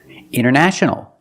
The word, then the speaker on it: international: You have NT in the middle, the T is silent. Other examples, internet. Internet or internet. International.